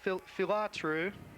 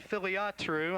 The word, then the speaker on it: Filiatru: The production staff, we'd like to thank Robin Phillips, Carol Sweezy, Jim Bell, and Dan Filatru. Excuse me, that's Dan Filiatru. I missed a syllable there.